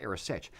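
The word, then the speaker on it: arisaid: it's you know it's spelled aade but it's pronounced AOS if you would ever consider wearing an AOS as well as a great Kilt what I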